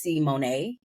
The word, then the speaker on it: Simony: So I would definitely just change it to make sure that people know that my name is Simony and not Simone.